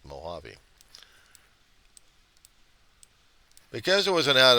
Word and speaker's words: Mojave: could see it but it's not the right pronunciation for it's Mojave because it was an